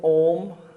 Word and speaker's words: Om: at the start the shape of your mouth should be a big o a lot of people say om something like this it should actually be said with the mouth fully open and mouth forming an o something like this